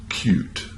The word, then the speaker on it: cut: Therefore, the pronunciation in this word is cute. Cute. So you hear the U sound. The other word is pronounced cut.